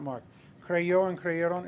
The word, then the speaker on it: creyó: Creyó, that accent mark is because any word that ends in a stressed vowel gets an accent mark because it breaks both the rules of pronunciation, right?